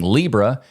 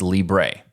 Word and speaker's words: libre: how to say it the English way is the is to saying Libra and the Spanish way is Libre and just a quick